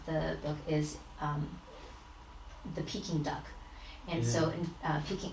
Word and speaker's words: Peking: China is Beijing and the peaking is the Cantonese pronunciation of Beijing or bucking and Cantonese so they just kept